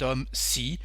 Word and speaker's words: homme: This man, we say cet homme. Why? Because the H is silent in this word homme, so it's like a vowel.